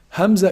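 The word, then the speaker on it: همزة: not sharp at all Hamza is pronounced from also the deepest part of the throat Hamza and half so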